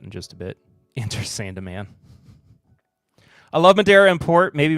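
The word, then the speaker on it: Sandeman: The E does get pronounced Sandaman?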